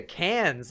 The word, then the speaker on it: Cannes: __ ] went to Cannes i am ryan boggle I am boggled I got pronounced con they out of you if you say it any other way oh now I wouldn't